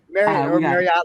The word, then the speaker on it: Marriott: all right good good marriott like the hotels marriott brian shenanigan and